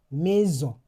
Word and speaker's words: maison: When a single S is trapped between two vowels, it will produce the sound Z. For example, So, it it comes out with the sound Z Z. Maison. Because S is between E and O.